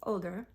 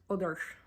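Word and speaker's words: Óðr: And Freya lost the love of her life, Odr, not Odin, but Odr. Well, and technically you're supposed to, I'm pronouncing it incorrectly, you're supposed to roll the R's, Odr.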